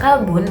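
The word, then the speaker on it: كلب: Terus kalau misalnya kalbun itu artinya anjing yang mana dengan huruf kaf.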